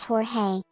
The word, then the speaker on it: Jorge: Sapling, it's pronounced Jorge. The blend of mischief and charm in the name adds a touch of whimsy to every conversation. Embrace the joy of mispronunciation. I love how it's Jorge, and it's not. There's not even. It's an H.